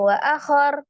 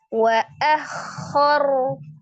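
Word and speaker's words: وأخر: k sifatnya ragah jadi jangan langsung wa akhar tapi wa akhor wa akhor rnya disukunkan karena waqaf ro fathah dibaca dengan tebal ro sukun sebelumnya fathah dibaca juga dengan tebal ya takim jadi rnya di sini tebal Wa akhor yunabbaul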